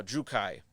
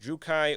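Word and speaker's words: Druchii: loud i think it's d-r-u-c-h-i-i uh which i believe people have told me in the past is pronounced should be pronounced drukai or jukai or drucci uh yes yeah bastian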